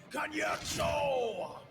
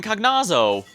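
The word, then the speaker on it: Cagnazzo: Wait, that's how it's been pronounced all this time? Ever since Final Fantasy IV, I've been calling him Cognazo. You mean I've been getting it wrong for these almost 30 years?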